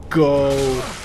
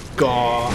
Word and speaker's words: Gough: Like, I always go Gaw. I like pronouncing it Goth. I know there's no TH in the word. It's Gough. So, Hawkeye Go, I suppose.